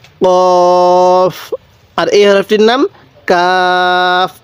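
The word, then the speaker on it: ق: আমার সাথে আপনিও বলবেন কফ কফের উপরে দুই নক্তা কফটা উচ্চারণের সময় একটু ধাক্কা দিয়ে পড়বো আমার সাথে পড়ুন কফ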